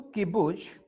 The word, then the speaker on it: kibbutz: इसका प्रोनाउंसिएशन है किबुज।